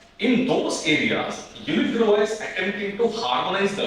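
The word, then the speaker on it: UNIDROIT: Unidruva, I think we mentioned about it's Unidruva, because it's a French term, pronounced as Druva.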